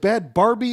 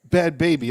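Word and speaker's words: Bhabie: Bad, and I don't even know, is it Bad Barbie? Is it Bad Bobby? Is it Bad Baby? Bad Baby. Okay, Baby, but it's spelled like that.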